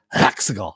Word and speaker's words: Exegol: Exegol.